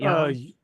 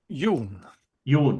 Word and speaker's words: Jan: Is it Jan? Yoon. Yoon. Okay.